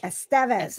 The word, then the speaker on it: Estevez: how does Rob Lowe say it uh Estevez Estevez okay Emilio Estevez and he's known him literally